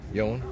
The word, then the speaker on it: Jan: It's Captain Yon. Yon. Rhymes with phone. Captain Yon. Just remember, Yon, phone home. You remember how to say my name.